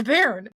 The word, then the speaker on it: bairn: I'm like, it's bairn. It's wee bairn. Bairn. And you kind of gotta get some of that nasal in there.